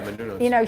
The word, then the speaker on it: Menounos: Yeah, Menounos.